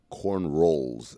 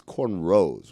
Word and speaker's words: cornrows: But I want to ask a question because Bill pronounced it corn rolls and I hear people sometimes say corn rolls. It's cornrows, right?